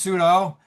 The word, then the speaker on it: Sudo: Yes, her last name is pronounced pseudo, but there's nothing fake about her.